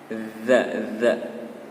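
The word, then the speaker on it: ذ: Kalau huruf za itu lidahnya, cara pengucapannya lidahnya sedikit keluar dan ditempelkan ke gigi atas. Seperti itu. Za. Ada sedikit angin yang keluar dari selah-selah lidah dan gigi.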